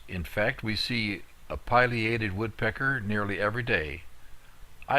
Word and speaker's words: Pileated: one of my errors the correct pronunciation is Pileated not pated as I have always said before it is so named for the pileum the top of the bird's head I suppose it is